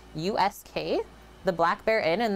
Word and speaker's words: Usk: in a place called i believe it's pronounced us usk the black bear inn